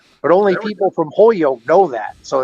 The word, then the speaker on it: Holyoke: Now, people from Holyoke don't say Holyoke; they say Hoyoke. So they almost take the L out. But only people from Holyoke know that.